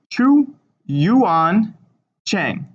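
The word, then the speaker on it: Zhu Yuanzhang: So this ZH is actually going to be pronounced CH. So it's Chu Yuan Cheng.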